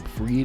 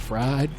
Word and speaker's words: Fried: found it weird to say his name freed and not fried okay that's that's probably